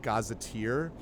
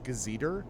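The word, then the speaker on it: gazetteer: years ago and uh pronounced the word gaziteer as gazeter because I had literally never heard the word pronounced.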